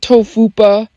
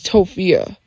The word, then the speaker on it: Tophia: It's not Tofupa, it's Tophia.